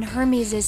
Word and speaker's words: Hermes: Yeah, but why'd he say herpes? Whatever. It's not a tomato-tomato thing, it's Hermes, like, and herpes.